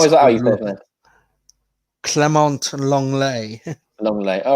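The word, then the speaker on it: Lenglet: how was i clemente long lay long leg all right thank you yeah he is french uh yeah off they don't pronounce the t's that much today no absolutely well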